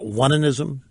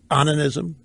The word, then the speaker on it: onanism: You might want to pronounce it onanism. You might want to pronounce it onanism. I guess onanism makes the point.